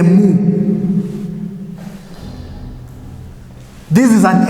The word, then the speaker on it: mu: You can pronounce it as a man, but it is a mu.